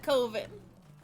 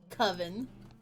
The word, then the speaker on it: coven: you enjoy time here I've always pronounced it coov I mean I know that it technically English says it's supposed to be pronounce coven I'm sorry my but